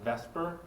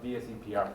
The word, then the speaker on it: VSEPR: A lot of people call it VESPR because it's very hard to pronounce that, okay? So people that kind of reverse the E in the S and call it VESPR, okay? The more correct way is called VSEPR theory, okay?